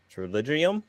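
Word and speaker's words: pterygium: It starts with a P, but the P is silent. So it's like why isn't it even there?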